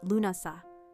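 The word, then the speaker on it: Lughnasadh: This was Lubnasad, pronounced Lunasa, the festival of the first fruits, held around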